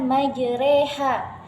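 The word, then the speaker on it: مجراها: Jadi cara bacanya majreha. Pada dasarnya patah itu dibaca a, namun terkhusus pada kata majreha ini, jadi patah itu dibaca e, jadi dimiringkan ke e. Bismillahi majreha. Nah, kalau untuk penulisannya ini majroha, tetapi untuk pelafalannya ini dibaca majreha karena ini merupakan salah satu yang istimewa di dalam Al-Quran.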